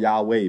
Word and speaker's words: Yahweh: then he says that, the first character should be pronounced as Ya. 为什么呢？ Why? 因为这是哈利路亚那个亚， Because that is related to the Ya and in Hallelujah.